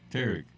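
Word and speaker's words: Tarik: Skubal, old Turk. Turk? Tarek. Old Tarek.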